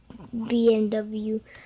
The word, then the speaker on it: BMW: The reasons why I choose this car is because, look at this VMW, because some people, in Mexico, they pronounce it VMW sometimes. Some people does that. In America, some people do it. BMW, but for me, I would pronounce it both.